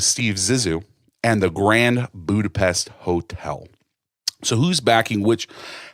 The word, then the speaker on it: Budapest: It's Budapest.